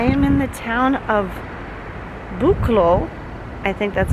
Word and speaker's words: Buchloe: I am in the town of Buchloe.